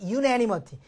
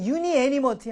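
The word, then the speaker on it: unanimity: 발음으로 보면 그걸 확인할 수 있으니까 유니 애니머티. 그래서 빨리 발음하니까 유애니머티. 유니 애님의 I와 A는 몸이 두 개니까 그렇게 뭐 두 개 유니 애니머티 할 필요는 없어요. 유애니머티.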